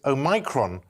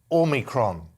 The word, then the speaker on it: Omicron: He says the Greek O should be said as in or, as it is in modern Greek. He insists the variant is therefore said like Omicron.